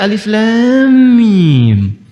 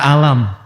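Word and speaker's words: الم: Alif lam mim sampai sekarang masih alif lam mim. Tidak pernah dibaca alam ya kan?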